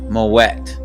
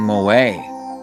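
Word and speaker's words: Moët: way first it's pronounced moet as if a baby was oh wow as if a baby was asking you to add more water more wet please wow more wet i was saying more way more wet people who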